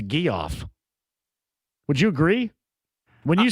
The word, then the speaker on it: Geoff: That's how I pronounce it. Yeah. It's not Jeff, it's Geoff.